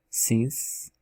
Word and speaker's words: since: Não tem esse E não existe, ele é mudo também. A palavra grace, grace, que é graça. A palavra since, since, que é desde, né, desde que.